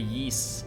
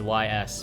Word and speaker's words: Ys: Have you heard of the Ys series? Looks like it's pronounced YS, but it's actually pronounced Ys because it's a very Japanese game.